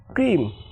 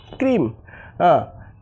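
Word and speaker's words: cream: আবার সি আর ই এম ক্রিম। ক্রিম।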